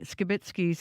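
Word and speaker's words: Skibicki: You might notice we are pronouncing Skibitsky's name differently. CBC has learned in court the pronunciation is Skibitsky.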